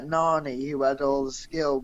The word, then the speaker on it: Nani: Nani.